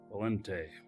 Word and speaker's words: Valente: pick it up Valente well I I do pronounce the n just not real pronounced I don't put emphasis on it but anyway seems like